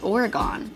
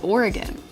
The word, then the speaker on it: Oregon: Everybody on the East Coast says it's Oregon. It's not, it's Oregon.